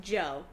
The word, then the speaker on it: Djo: No, his artist name is DJ O, pronounced Joe.